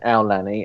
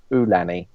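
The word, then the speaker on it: Aulani: cast members were saying alanny and a lot of the actual Hawaiians were saying ulani so I don't know I don't know um and the Australians like Alani because there was quite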